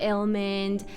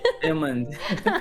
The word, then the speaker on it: Illmind: You know, he's worked with some of the best producers, musicians out there, like Ilmond. Some of the producers, I can't even pronounce their name.